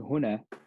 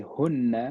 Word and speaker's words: هنا: So we want to make sure that when we're pronouncing huna, we don't put a shadda, right? Because if we say hunna, it becomes a different word, which we'll get into, inshallah, a bit later.